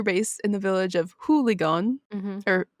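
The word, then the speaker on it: Hoogeloon: in the village of hooligan or who sounds like hooligan it's pretty close it's h-o-o-g-e-l-o-o-n which is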